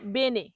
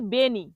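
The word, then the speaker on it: bene: ইংলিশে বলা হয় ফাইন তাহলে এই বেনে এটাকে যখন ভুল উচ্চারণ করে তখন কি বলে তখন বলে বেনি তখন কি বলে বেনি বলে বেনেকে বলে বেনি তাহলে বেনি বলা যাবে না কি বলতে হবে বেনে বেনে অর্থ ভালো পরের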